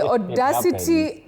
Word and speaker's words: audacity: Many people innocently say just like authority. Yeah. Authorize. No. Authority, authorize, audacity, audacious.